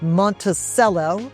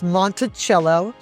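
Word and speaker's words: Monticello: One is Montichello. People often think it is Monteello, but it's Montichello.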